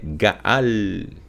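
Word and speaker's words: גאל: Então aqui nós temos as letras Gimel, Aleph e a letra Lamed, cuja raiz da pronúncia dela é Gaal, que significa redimir, agir como por exemplo, como um parente resgatador, certo?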